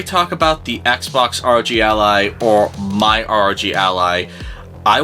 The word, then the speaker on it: Ally: It's not the Asus rogue aloo. It's the Asus R Og ally. That's how you freaking pronounce it.